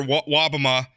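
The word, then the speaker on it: Wobbema: Republican state senator, Senator Wobama. Am I pronouncing that? That's correct. That's correct.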